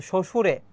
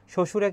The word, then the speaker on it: শ্বশুরে: বফলার উচ্চারণ আছে কিন্তু শ্বশুরে শ্বশুরে কিন্তু এখানে ব ফলার উচ্চারণ নাই ডি হবে ডি তুষী